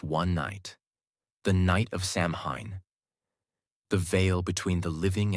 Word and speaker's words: Samhain: And the most powerful day of the year was October 31st, the night of the festival called Samhain, pronounced Samhain.